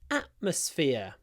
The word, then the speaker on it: atmosphere: If you listen very carefully, you should be able to hear that I don't pronounce the T in atmosphere. I use a glottal stop. Гортанная смычка. Atmosphere. And I almost always do that if there is a T before a consonant. So here we have M, a consonant, so I use glottal stop instead of T.